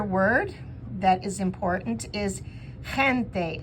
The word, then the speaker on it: gente: Another word that is important is gente. That G is like you're spitting from your throat.